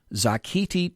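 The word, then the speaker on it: Xochitl: the hell am I going to pronounce this zakti Torres small now you tell me how this first word should be pronounced X o CI TI the three is silent zakti Torres small New Mexico Max Rose New York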